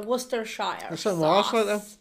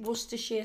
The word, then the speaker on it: Worcestershire: because there's worcestershire worcestershire it's actually sheer what we say here we don't say worcestershire we say worcestershire that's how you pronounce it worcestershire sauce some people say